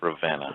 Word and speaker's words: Ravenna: is in my state pronounce it right buddy what Alex Ravenna Arsenal Ravenna I know it sounds from Maryland I pronounce it Lavina it's a it's a